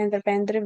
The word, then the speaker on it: entreprendre: इसकी प्रोनाउंसिएशन जो मैंने अभी बोली थी entreprendre वही होती है, अपने तरीके से मत बनाइएगा, ठीक है।